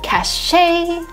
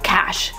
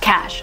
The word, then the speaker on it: cache: Okay, that, like the spelling here, I would read it cachet, cash, or whatever, because there is an E at the end, but it's actually cash, just cash.